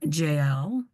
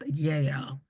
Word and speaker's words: Jael: The woman Jael, which I think is actually pronounced Yael.